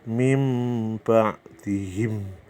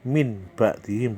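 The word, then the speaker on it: مِنْ بَعْدِهِمْ: Contohnya mim, kan mim ke be, mulut kita ke ba, mim ba dihim, mim ba dihim, bukan min ba dihim, bukan. Kalau jelas-jelas itu huruf izhar. Ini iklab mim ba dihim, mendengung dan membalik.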